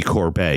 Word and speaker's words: Corbet: Well, that's very unfair to Brady Corbet. He pronounces his name Corbet.